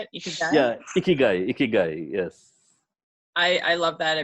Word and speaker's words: Ikigai: Yeah, Ikigai, yes.